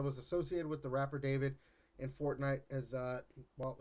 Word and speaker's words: D4VD: Rapper, I'm assuming it's just David. Like it's spelled Yeah. D4VD. Whatever.